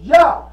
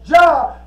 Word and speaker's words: Jah: But remember, Jah is supposed to be pronounced with the Hebraic transliteration, and Jah is Yah. So you don't pronounce Jah as Jah, you pronounce Jah as Yah.